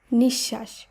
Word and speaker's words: নিঃশ্বাস: জানবো এক্ষেত্রে বলা হচ্ছে শব্দের মধ্যে বিসর্গের পরে যদি যুক্ত ব্যঞ্জন থাকে তাহলে তাহলে বিসর্গ লোভ পাবে এবং উচ্চারণ একই থাকবে তাই দন্ত নয় হস্য বিসর্গ তালবস আকার দন্তস্য শব্দটি শুদ্ধ উচ্চারণ হবে নিঃশ্বাস লক্ষ্য করুন এই শব্দের শুদ্ধ উচ্চারণে কিন্তু বিসর্গকে বাদ দিয়ে শব্দটিকে উচ্চারণ করতে হচ্ছে এক্ষেত্রে উচ্চারণের কিন্তু কোন পরিবর্তন হচ্ছে না একইভাবে অন্তস্থ দুস্থ সতস্ফুর্ত